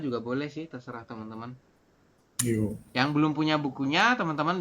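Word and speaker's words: 여: Bukan yeo, tapi yo. Memang Latinnya yeo ya, tapi kita membacanya adalah yo.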